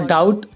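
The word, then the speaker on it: doubt: और डाउट और डेट को देखो, इसमें टी से पहले बी आया हुआ है तो ये साइलेंट है।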